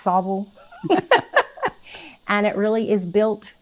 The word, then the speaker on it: Saltville: of sauvigle virginia and it's spelled saltville but up there everybody talks like they're eating marbles so it's sobel and it really is